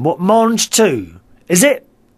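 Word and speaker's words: mangetout: Marj 2 is how you pronounce them. What, Marj 2? Is it? Marj 2.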